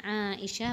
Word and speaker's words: Aisyah: nama bibinya itu Aisyah Aisyah bacanya Aisha bukan Aisyah tapi Aisyah Hai itu yang kata angkatan kemarin dalam bahasa Arab panjang-pendek memberi tekanan kepada setiap huruf Hai anak beda panjangnya beda tekanannya hai hai Hai Kalau